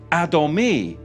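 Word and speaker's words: אדמוני: Because when you look at the Hebrew for ruddy is Adomi. Adomi, and it's spelled Aleph, Dalet, Mem, Nun, Yod.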